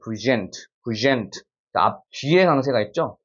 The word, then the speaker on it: present: 읽어야 될까라고 읽어야 됩니다 present 뒤에 강세가 있죠 앞에는 죽어버리고 뒤에서 present detail라고 표현을